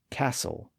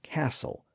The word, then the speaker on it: castle: hasten listen and moisten of course all of those words are still spelled with a t but it's almost always silent in standard English now among the words I